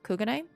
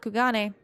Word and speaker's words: Kugane: anyway asahi is from kugane which is apparently how you pronounce that not kugane kugane i'm bad um and fian daniel